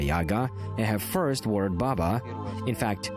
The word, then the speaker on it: Baba: fact the concept of Baba Yaga and her first word Baba in fact it is necessary to pronounce it with shifted emphasis baba baba here in